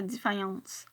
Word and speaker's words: Defiance: Oui, parce que ça se prononce comme ça, Defiance.